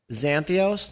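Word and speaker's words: Zakynthos: this island uh santhos zanthos no there's a K in there Zach and it's it's a silent k because it's a Greek thing so I want to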